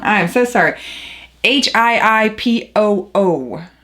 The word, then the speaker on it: Hiipoo: Hiipoo. I wanted to say hippo first, but it's Hiipoo Sublimation Ink.